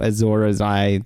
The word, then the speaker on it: Azor Ahai: I guess same could be said of Jaime, but then there is that whole Azor Ahai thing.